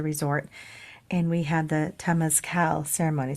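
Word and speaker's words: Temazcal: and we had the Tas Cal ceremony so it's t e m a z c a l Tas Cal I think it's how it's pronounce I'm not sure but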